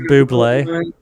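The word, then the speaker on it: bubly: It's pronounced buble.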